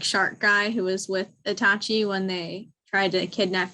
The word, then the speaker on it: Itachi: Icha? It's Sasuke's brother. Uchiha. No, what's his first name? I know. Itachi.